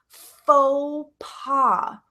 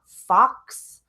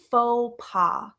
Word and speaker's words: faux pas: is f aux pas faux pas so when you see this word it's not fox or folks it's not passe we don't pronounce the X we don't pronounce the S that's faux pas faux pas it's spelled